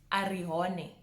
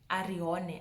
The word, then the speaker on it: Arihone: And the last name in the A's is Arihone. Arihone. Arihone is such a nice name. I think it's easy for most people to pronounce. You literally say the letters as they are.